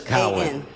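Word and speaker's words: Cowen: You didn't pronounce his name, or? Ms. Cowan, right? Cowan. Cowan? Cowan. C-O-W-E-N? Yes, Cowan.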